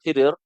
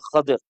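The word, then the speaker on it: خضر: Itu juga salah tulis ni sebenarnya bukan khidir tapi sadir. Ejaan ini dalam dua dalam kitab ini juga walau saya yang catat tapi salah. Yang tepatnya ialah Khadir K H a D R Khadr Khadr Nama penuh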